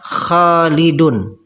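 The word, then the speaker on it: خالدٌ: Sekarang, ketika ucapannya terhubung, ya, maka nun diucapkan, jaa khalidun. Jaa khalidun. Ya, Khalidun. Jelas dalam pengucapannya, ada nun sukun, khalidun. Namun, dari segi penulisan, nun sukun tidak tertulis.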